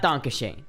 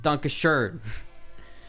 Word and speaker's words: Dankeschön: I call it like Dankeschön. And it's pronounced Dankeschön in the fucking song. And like 90% of Americans say Dankeschön. It's not Dankeschön. It's Dankeschön.